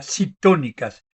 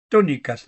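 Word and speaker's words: ctónicas: Eh, Son las llamadas diosas tónicas con una C adelante. Sería citónicas, pero se pronuncia tónicas, ¿no?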